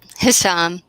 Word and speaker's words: Hisham: How do you pronounce his name? Hisham.